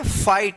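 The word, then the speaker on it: fight: फाइट। यहां पे देखिए आई के जस्ट बाद क्या है? जी एच है। तो ये जी एच जो है ना साइलेंट रहेगा।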